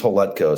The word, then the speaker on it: Hletko: that's all good man uh last name is holetco so just it looked scary because he got